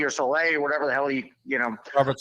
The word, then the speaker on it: Saleh: And I think with a guy like, what do you pronounce, Sally or Soleil or whatever the hell Robert Saleh.